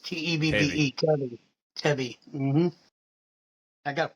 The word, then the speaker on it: Tebbe: Well, first, my last name pronounced Tebbe, T-E-B-B-E, Tebbe.